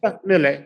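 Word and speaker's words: Milei: Am I pronouncing his name correctly? Mille.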